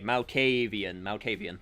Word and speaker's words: Malkavian: Okay, Malkavian. Okay, got it. I think that's one of those words I've just been saying, like, way too fast, so I just sort of, like, lump 2 syllables together.